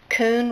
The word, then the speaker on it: Kuhn: It's pronounced Kuhn Rikon.